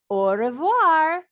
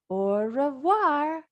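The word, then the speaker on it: au revoir: I tell my friends orir you say it like this orir that's French for goodbye on my door I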